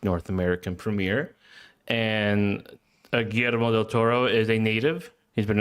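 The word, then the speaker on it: Guillermo del Toro: GMO del Toro. I g that was beautiful. You rolled it and everything.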